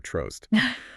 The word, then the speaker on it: Trost: I'm going to go with trollst rhyming with toast, but you know with an R trost.